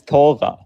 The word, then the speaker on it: Torah: It's pronounced as the Torah. Can you pronounce it correctly? Sure. Sure. Refute. All right. Pronounce it. Say Torva. Let me read you a verse out of your Torah. Look. No, it's not Tora. It's It's tova. So, you can't even pronounce the book name.